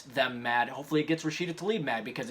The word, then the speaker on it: Rashida Tlaib: It wasn't like he called her, Rashida Tlaib, or, missed it a little bit. He thrice in a row called her Rasheed, which is a male's name, by the way.